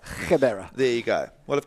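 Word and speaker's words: Gqeberha: Gebera. Gebera.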